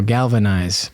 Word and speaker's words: Galvanise: I get it now Galvanize but it's spelled Galva Das nice but it's galvaniz I see what they did